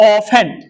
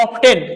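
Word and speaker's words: often: पढ़ते हैं हम लोग इसको पढ़ते हैं हम लोग ऑफेन लिखा गया ऑब्टेन लेकिन टी साइलेंट होता है उसको क्या बोलते ऑफेन क्या बोलेंगे ऑफेन ऑफेन मतलब प्राय बार या अक्षर या तीनों हमारा क्या है?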